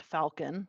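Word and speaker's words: Falkin: the next one is f-a-l-k-i-n pronounced Falcon that one's the most normal but it's still like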